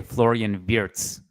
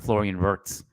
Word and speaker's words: Florian Wirtz: It took me like probably 2 months to be able to say Florian Wirtz and not Florian Wirtz.